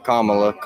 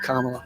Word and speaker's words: Kamala: Kamala, yeah. I don't know how to say her name. Well, she says it Kamala.